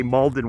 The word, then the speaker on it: Malden: mask mauldin massachusetts right we say malden washington and massachusetts is kind of malden it's this it's just like one syllable hard to explain the